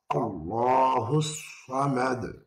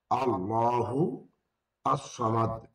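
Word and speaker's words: اللَّهُ الصَّمَدُ: আল্লাহুস সামাদ আল্লাহু আসসামাদ দুটো যখন মিলিয়ে পড়া হবে তখন আল্লাহুস সামাদ আল্লাহু আসসামাদ এর আসসামাদের আলিফ যখন মিলিয়ে পড়বো তখন উজ্জ্ব হয়ে যাবে হাইড হয়ে যাবে আল্লাহু আসসামাদ তখন না পড়ে পড়তে হবে আল্লাহুস সামাদ একটি করে বাক্য উচ্চারণ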